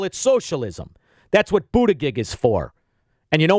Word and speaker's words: Buttigieg: If you're for a fraud like Buttigieg, and I don't know what his name is, but it's spelled Boot-I-Gig. I didn't say booty, Buttigieg.